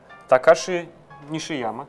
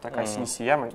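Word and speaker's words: 西山隆志: Такой геймдизайнер Такаши Нишияма, Такаси Нисияма, я не знаю, я не японист, извините, не могу правильно это произносить. Но кажется, Такаси Нисияма канонически будет по-нашему. Этот человек придумал сначала в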